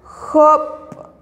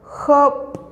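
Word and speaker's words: job': Hop. Hop.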